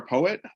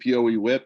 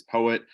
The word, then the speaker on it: PoEWit: everything looks good okay uh so we are poet uh all uh some people pronounce it Poe whip but our official name is poet uh all our devices are powered by Poe